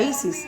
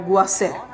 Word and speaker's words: Isis: La pronunciación de Isis no era Isis, era algo como Guaser.